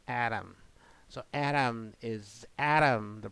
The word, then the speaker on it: ADaM: the CIS standard you you say it as Adam not atam uh another term that